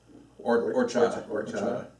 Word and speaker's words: horchata: So the H is silent in Spanish. Horchata.